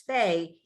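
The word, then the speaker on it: ף: So fe is just a P. Fe is an F, just a regular old F, and it has a final shape if you look at the bottom.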